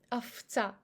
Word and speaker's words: овца: Also, we have unstressed o in word овца and pronounce it as a. And we have devocalization of v next to ts. It goes as f, овца, овца.